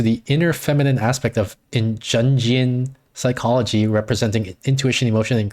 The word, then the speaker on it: Jungian: Jungian. Jungian? Okay. Yeah, like the word young. Jungian.